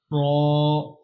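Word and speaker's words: ر: next one is ra ra pronounce with heavy sound z z SE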